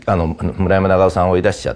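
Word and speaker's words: 村山長挙: のその下の村山長尾さんと読むんだけど長教って書い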